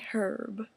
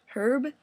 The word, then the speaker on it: herb: pronounce it out Arab that H is silent some people say herb herb is the name frustrating